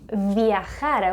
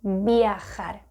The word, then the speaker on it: viajar: And yeah, it may be true, but what happens is that a lot of people say viajar when they should say viajar.